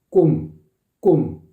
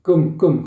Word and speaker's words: 꿈: 눈 눈물 눈물 아시겠죠 꿈도 꿈 바짝 오므려서 입술을 바짝 오므려 가지고 꿈 꿈 이렇게 해 줘야 된다고요 눈 물 아시겠죠 입술을 바짝 오므리지마 하려면 발음이세요 그래서 눈물 눈물 그는 거거든요 끔 끔 러는 거고 예 그래서